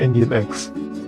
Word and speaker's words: Nginx: Nginx itu tulisannya Nginx ya, tapi dibacanya Nginx.